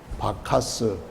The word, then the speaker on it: 바카스: 구스의 아들, 그래서 또 우리식으로 발음하면은 바카스, 음료 그 이름을 거기서 따서 지은 것이죠.